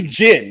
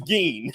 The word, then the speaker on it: Gin: So, because I see gin, because you know gin. I know. The drink. I see the drink, gin, but it's Geen.